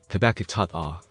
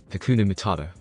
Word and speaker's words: Hakuna Matata: irritation present in his tone due to Pumba's mispronunciation of the phrase, and his forcefulness to get Pumba to say it correctly. Again, Habakatat. Again, Hakuna Matata.